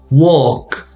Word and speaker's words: walk: Walk. Walk. Now, when you have double L, you do pronounce the L.